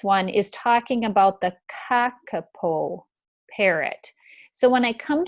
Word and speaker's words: kakapo: new word here and the uppercase letters means i put just a little bit of stress on the first syllable so it's not kakapol it's kakapo parrot so